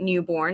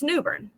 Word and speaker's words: Newbern: Well, you know, Commissioner, I live in a town called Newbern, but it's spelled newborn. But nobody pronounces it newborn. It's Newbern.